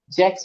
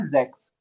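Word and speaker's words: sechs: जा हो गया, जय हो गया, जैक्स। जैक्स नहीं, जैक्स, जैक्स।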